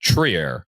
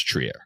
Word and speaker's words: Trier: And the only thing I will always remember about that conversation is I always called him Alonzo Triier. Other people called him Trier and I asked her and she's like it's Triier.